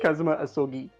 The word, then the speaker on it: Kazuma Asogi: people mispronounce. Asogi. Asogi? Kazuma Asogi.